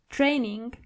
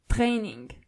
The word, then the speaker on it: Training: And again with the word training. The German version of it is Training. So you only have to roll your R.